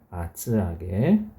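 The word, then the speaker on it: 厚揚げ: 자, 뭐라고 읽느냐 하면 아츠아게. 아츠 두껍다 이거죠. 아게 튀겼다 하는 얘기예요.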